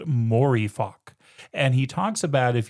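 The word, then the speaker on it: Mooreeffoc: If you reverse coffee room, it's pronounced morifock.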